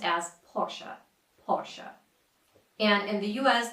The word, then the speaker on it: Porsche: So the right way to say this is Porsche.